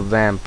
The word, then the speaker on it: WAMP: we'll need to download the vamp server which is spelled as wamp server which will install apache